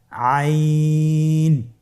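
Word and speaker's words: عين: আইন হরফটি উচ্চারণের সময় অবশ্যই তিন আলিফ টেনে পড়তে হবে। এখন আইন হরফটি বারিক হরফ। পাতলা করে পড়তে হবে। আপনারা আমার সাথে বলুন আইন।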